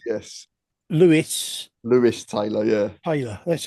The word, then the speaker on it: Lewis: It's Lewis. I pronounced Yes. Lewis.